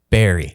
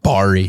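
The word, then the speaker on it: Barrie: showing the 22nd and Barry is pronounced Barry all right called it Bari that's oh not Bari you smuck anyways rock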